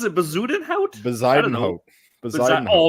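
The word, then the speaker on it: Bezuidenhout: And I think Bazudenhouse came second, so he gets the first. That might be the grand prize of worst pronunciations. What how do you pronounce it? Bazudenhout? Bazudenhout.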